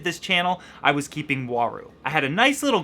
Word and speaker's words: Uaru: U-A-R-U is pronounced waru.